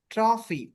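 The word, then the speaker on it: trophy: আর ও পি এইচ ওয়াই পি এইচ ওয়াই ট্রফি ট্রফি আর you true ট্রাই ট্রফি হ্যা ট্রফি স্বাভাবিকভাবে আমরা জানি উচ্চারণটা কিন্তু হয় এফ এর জন্য বাংলা মানে ইংরেজি হচ্ছে এফ এর জন্য ফ উচ্চারণ হয়।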